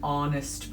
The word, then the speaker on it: honest: a hat a house an honest person it begins with an H but the be it is silent it starts with a